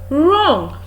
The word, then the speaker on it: wrong: is right right we also have the word wrong you are wrong you wouldn't have done that